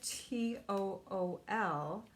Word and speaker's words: tulle: They're both spelled differently. This is a T-O-O-L. And tool is spelled T-U-L-L-E, the kind of tool that we're using for the window.